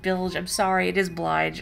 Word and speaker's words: Blige: Bilge. Is that how you say it? I've always, like, I want to read it as Blige. Is it? No, it is Blige.